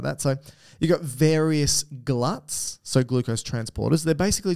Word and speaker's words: GLUT: gluts all glucose Transporters you call them glutes which makes sense because it's glucose transporter but I like it's not how it's pronounced no they're glut and I like glut because it sounds like gluttony which sort of makes